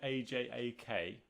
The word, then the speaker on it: Ajak: pronounced ix it's aj ax ix her name is spelt aj ak and they pronounce it ajak yeah but ajax